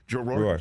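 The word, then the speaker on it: Rohr: The way you play Jackie Roar is or Raw. I mean, how do I pronounce it really? I mean, how do you Roar? Roar.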